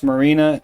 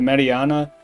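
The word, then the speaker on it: Marianna: specifically in Marina Pennsylvania I'm almost certain it's pronounced Marina instead of Mariana cuz I've been to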